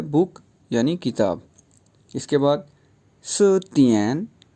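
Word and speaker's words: 词典: इसके बाद सतियन, CI पे सेकंड टोन है, DIAN ए पे थर्ड टोन है, तो यूं प्रोनाउंस होगा सतियन।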